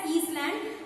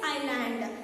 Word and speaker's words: island: We should not call it యాజ్ ఈస్లాండ్. S is silent there, you should call it as island. So I will reach my goal to touch the island of my soul.